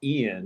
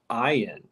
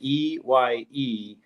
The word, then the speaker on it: Ian: One of my Facebook friends, his name looks like it's spelled Ian. That's how most people would pronounce it, but it's pronounced Ian. And he gets so upset when people say it wrong that he now spells his name as EYE-AN.